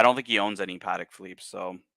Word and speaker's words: Patek Philippe: There is a question about the pronunciation, and it's actually it's Patek and not Patek. Patek Philippe.